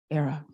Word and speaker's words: Airea: that ghost I honor say it era rhymes with Sarah Sarah from the Latin